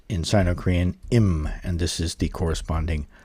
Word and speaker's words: 임: And uh today we are doing the ninth heavenly stem which is pronounced in Sino Korean im.